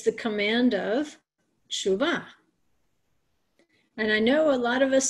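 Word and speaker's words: תשובה: Because if you hear an Israeli say it, somebody who actually speaks Hebrew, it'll sound like they're saying tshuva, tshuva. Because of the way that the syllables are run together there.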